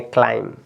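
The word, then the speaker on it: climb: थम इसके बाद देखिए यहां पे बी साइलेंट हो गया आपका ये तो आप इसको पढ़ेंगे क्लाइम क्या पढ़ेंगे क्लाइम इसमें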